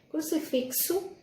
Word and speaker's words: crucifixo: Crucifixo se escreve com X, mas tem o som de CS, crucifixo.